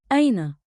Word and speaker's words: أين: Say it slow. Aina. One beat like in with a light catch at the start.